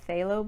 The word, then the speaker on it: phthalo: It's called phthalo blue. It's spelled P-H-T-H-A-L-O, phthalo blue.